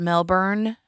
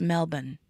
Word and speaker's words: Melbourne: that it's not pronounced Melbourne although I say it that way it's Melbourne but you know Aussies are bad about not using RS in a lot of their words except till they say